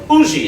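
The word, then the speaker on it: Huger: So we had landed at the plantation of a Monsieur Auger, a Benjamin Sugar, or Ougie is the way they pronounce it there in South Carolina, an ardent patriot, but he had mistaken me and my companions for Englishmen.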